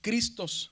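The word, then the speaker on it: Χριστός: la gramática moderna, que cuando está una ji y una ro, la pronunciación cambia a, por eso decimos cristos o Cristo, ¿verdad?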